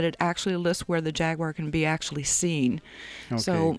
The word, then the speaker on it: Jaguar: Jag you are Jaguar however you want to pronounce that I pronounce the Jaguar but the correct way is Jaguar is on display at